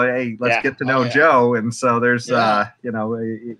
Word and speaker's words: Jo: But this lady, her name is Joe, like Josephine. Joe Jorgensen. J-O. It's J-O.